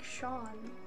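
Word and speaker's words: Seam: seem oh pronounced guys it's like Sean it's strong and this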